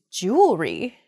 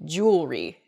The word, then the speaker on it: jewelry: word is jewelry jewelry i think i'm probably guilty of this mispronunciation i can't say that word mispronunciation where the word kind of gets a little bit smushed together uh and we say jewelry instead we miss that that second e sound in there it should be jew ellery uh in